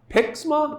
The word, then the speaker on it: PIXMA: look at the canon pixma i do believe is how to pronounced p IX ma TS three one two